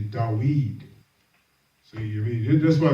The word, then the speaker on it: David: That's why the scripture says in Psalms, and the actual pronunciation for David is actually Dawid.